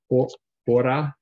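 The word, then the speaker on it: ὥρα: You said pronounced hora.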